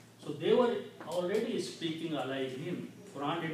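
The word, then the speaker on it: عَلَيْهِمْ: Him, alayhim. Instead of alayhum, alayhim. Ease of pronunciation.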